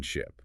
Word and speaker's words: ship: The correction is the distinction between the long iso vowel in sheep and the short vowel in ship.